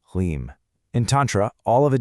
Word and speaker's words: Hlim: That's pronounced Hlim.